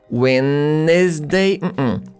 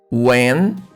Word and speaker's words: Wednesday: Notice that here, letter D is a silent letter. And this letter E after N is also a silent letter. Wednesday, Wednesday, Wednesday.